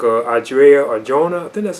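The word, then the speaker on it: Adria Arjona: other characters in the film too like uh audrey or jonah then that's how you pronounce her name she plays up martine and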